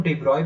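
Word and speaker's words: de Broglie: French physicist डी ब्रॉगली, जिसको हम डिब्रॉय भी बोलते हैं, ठीक है, प्रोनाउंसिएशन के टाइम हम समटाइम्स डिब्रॉय यूज करते हैं, मतलब डिब्रॉय ही बोला जाता है, बट आप डी ब्रॉगली भी पढ़ सकते हैं।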